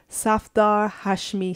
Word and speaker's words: Safdar Hashmi: acting troupe called and tell me if I'm pronouncing it correctly Safdar Hashmi Street acting troupe Satoru Hashmi Street Theater yes